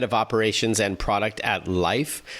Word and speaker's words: Lyf: We're joined by Kate McDonald, head of operations and product at Life, which is spelled l y f.